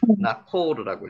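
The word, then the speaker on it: Ναχώρ: 헬라어로는 나코르라고 읽습니다.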